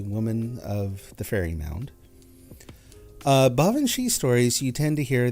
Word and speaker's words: banshee: But no, it's actually pronounced Banshee.